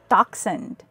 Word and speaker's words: dachshund: 第二种发音 k, 来自希腊文 echo, chemical, ache, stomach, chiropractor,Choir, chaos, dachshund, school, orchestra, schedule, psychology, mechanic, Christmas, character, technique, echo, echo, echo, echo, echo, echo, echo, echo, echo, dachshund.